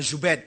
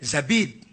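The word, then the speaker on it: زبيد: Az-Zabidi. Bukan Zubaid. Zabid.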